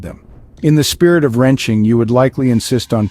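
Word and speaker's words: 人情: Chinese culture next up is wrenching pronounced as two second tones wrenching originating from Chinese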